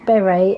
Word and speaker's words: Beret: Beret, she says, my name is pronounced Beret, as in the French hat. Trust me to marry a bloke with a daft name. I get called Beer and Bear too.